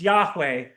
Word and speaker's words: Yahweh: It's commonly pronounced yahweh in Christian theology.